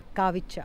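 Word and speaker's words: Kravica: लुबुस्की और यहां पर है द ग्रेट वॉटरफॉल काविच्छा। के आर ए बी आई सी ए बट how they pronounce काविचा।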